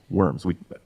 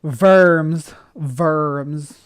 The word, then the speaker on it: Worms: Like in Germany, they have the city named Worms. They might pronounce it Worms or something different, but that Verms.